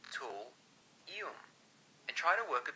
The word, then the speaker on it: thulium: Let's say thulium is pronounced as tool-ium, and try to work a tool into the story.